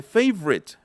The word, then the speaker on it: favorite: Y en la de favorite, favorite, es como si la E intermedia, la O intermedia también desapareciera.